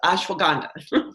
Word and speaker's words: Ashwagandha: I mispronounced it many times the first time, so I practiced. So it's Ashwagandha. So Ashwagandha has been known for centuries, really, to help with cortisol and to help with stress.